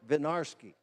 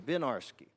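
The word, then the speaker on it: Winiarski: one of the Legends a fellow named Warren vinarsky isn't he pronounced his name benarsky and he was the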